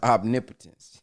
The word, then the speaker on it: omnipotence: I'm uh what I'm omnip omnipotence is that how they say it no it's omnipotence I'm sitting here talking